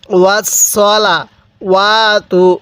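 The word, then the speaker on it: وَالصَّلَوَاتُ: ওয়াস সালা কিভাবে পড়বো ওয়াসলা ওয়াতু অনেকেই ওয়াস সালা পড়ে ঠিক আছে সদ জবর সা পড়ি যদি সদ জবর ছা পড়ি তাহলে পড়াটা সহি শুদ্ধ ভাবে উচ্চারণ হবে না কিভাবে পড়বো পড়ুন আরেকবার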